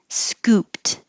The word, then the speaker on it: scooped: Scooped. This ed at the end sounds like a T because when the last